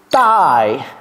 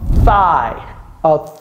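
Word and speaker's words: thigh: ça c'est quoi c'est thaille vous voyez comment je prononce là j'ai pas dit thaille j'ai pas dit thaille j'ai dit quoi Tha ça s'écrit T H i g h au pluriel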